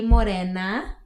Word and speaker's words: Morena: aka Morena. If you can pronounce the R, if you can roll your R's.